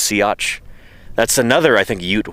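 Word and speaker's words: Siats: But it's pronounced sea.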